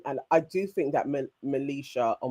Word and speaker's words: Malisha: So although Don was displaying and I do think that Melicia or Militia, how do how are we pronouncing her name? That's Melicia.